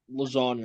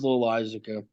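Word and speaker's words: Loáisiga: Setup men of Wandy Peralta and Jonathan Lasagna. I'm just going to say Lasagna. I'm not even going to pronounce it. I think it's Loisaca. It is Loisaca.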